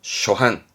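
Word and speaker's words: 初版: 세게 가지고 반복해서 찍어낸 그렇죠 출판의 판자 초판 발음은 쇼한 쇼한 출판은 슈빤 슈빤 뭐 계정판 가위대반 카이떼의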